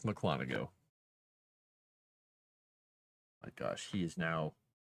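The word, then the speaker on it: Mukwonago: Buckwanago. It's Mclanago.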